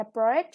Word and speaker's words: abroad: Yeah, with the vacation, the second syllable is stress, and abroad, the stress is on the second syllable also.